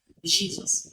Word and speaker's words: Jesus: You have not pronounced that sound that word very well. Jesus.